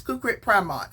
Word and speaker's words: Kukrit Pramoj: tried to look up the pronunciation is kukrit primont from what my research uh said uh TI names can